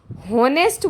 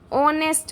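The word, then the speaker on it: honest: अब इसको बहुत से लोग होनेस्ट बोल देते हैं। होनेस्ट जबकि ये गलत है। इसको ऑनेस्ट नहीं बोलते। ऑनेस्ट बोलते हैं। ऑनेस्ट। इसमें एच साइलेंट है।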